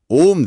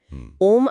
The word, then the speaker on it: ओम्: तरीका बताया गया है ओम असल में तीन ध्वनियों से बना है अ उ और अम अ प्लस उ प्लस